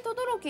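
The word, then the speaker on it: 等々力: ね、これで等々力って読むのが面白いですよね。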